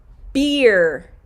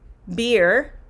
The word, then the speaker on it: beer: how to pronounce beer beer beer that's how you pronounce beer um beard monica yes so leila beer is the long e sound beer it's a tricky one